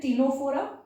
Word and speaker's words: Ctenophora: So then Ctenophora, the C is silent. Porifera, Coelenterata, Ctenophora.